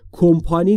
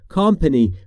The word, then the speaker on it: company: پس تلفظش رو دقت بفرمایید، کمپانی نیست، company.